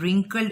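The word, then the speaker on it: wrinkled: इसमें you silent है, रिंकल्ड इसमें डब्ल्यू साइलेंट है, स्विच इसमें टी साइलेंट है।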